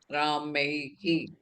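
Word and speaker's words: रामैः: Ramaihi. You have to pronounce it properly. Ramaihi. That visarga also should be pronounced.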